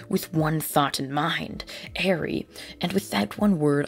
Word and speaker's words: Eri: pronounce it just because it looks like eerie but it's actually Airy it's strange but I'll hopefully try to remember Arie as some of you